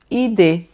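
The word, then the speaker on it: idée: ID. Então, olha, acento agudo, som de e normal, o e do você, né? E d. Esse ezinho aqui eu não pronuncio, né?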